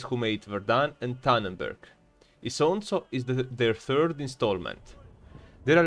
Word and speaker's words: Isonzo: Yeah, it is pronounced Isonzo in Italian or Socia in Slovene.